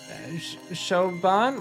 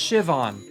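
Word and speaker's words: Siobhan: Shoban? What? Oh, it's pronounced Shivon.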